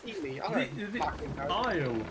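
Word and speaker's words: Isley: Isle. The E is silent. Isle.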